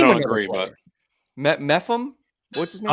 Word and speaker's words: Mepham: Mepham, yeah.